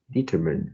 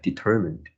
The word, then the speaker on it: determined: pronounce this word as determined and uh the stress should be on the second syllable so it is something like determined okay determine small changes